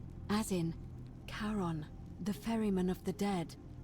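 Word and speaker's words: Charon: The name you heard wasn't Karen. It was C H A R O N. As in Karon, the fairerryyman of the dead.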